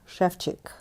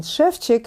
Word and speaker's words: Ševčík: And in Ševčík, no, it's not Ševčík. If you notice that there are little thingies over S and over C, and they make them into sh and ch in Czech language.